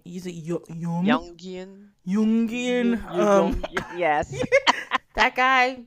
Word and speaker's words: Jungian: People A lot of people use it, like Union. I can never say his name. Use it Jungian.